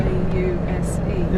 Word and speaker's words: Pause: It's spelled pause. Yeah. P-A-U-S-E.